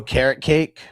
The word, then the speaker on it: Okereke: I call him Okereke. Yeah. So I'm going to take Okereke. Yeah, I think it's really pronounced carrot cake.